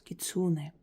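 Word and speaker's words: кицунэ: вам дарила обращение к лисе кицуне Хотя некоторые говорят что ударение нужно ставить в начале то есть кицуне разницы никакой этот ритуал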